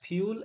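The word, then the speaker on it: fuel: তাহলে ordinary people, সাধারণ মানুষ, অলসো ইউজ, ব্যবহার করে, ট্রিস, গাছকে, অ্যাজ ফিউল অ্যান্ড ফার্নিচার, এটা ফুয়েল না, ফিউল, ফিউ।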